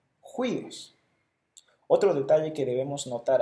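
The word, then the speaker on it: υἱός: Y la pronunciación del espíritu rudo es como una J en español, juíos.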